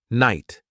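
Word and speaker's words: knight: For example, I came across the word night. It starts with a K, but the K is silent.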